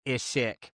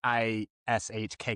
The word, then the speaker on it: Ishikk: It's Ishikk's interlude, not Ishik, but it's like I S H K K. So it's just pronounced like Ishk.